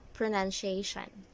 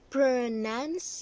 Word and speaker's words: pronunciation: you read this some of you might have said pronunciation but it should be pronunciation pronunciation okay so here you are so that